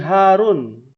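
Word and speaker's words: هارون: dalam bahasa Ibrani Nabi Harun Ya Harun itu bukan hak tapi ha besar ya Harun coba bisa kita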